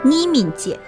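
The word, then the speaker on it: 义民节: 义民节。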